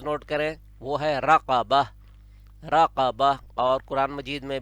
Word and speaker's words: رقبة: جیسے اوپر ہمارے پاس ہے ایک رقبتن جو قینچی والی یا دو نقطوں والی بڑی قاف کے ساتھ ہے. رقبتن، اب آپ تلفظ نوٹ کریں، وہ ہے رقبہ.